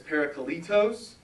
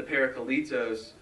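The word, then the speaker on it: παράκλητος: And he said the word is, like, for helper and comforter is, I can never pronounce it right. But it's parakletos.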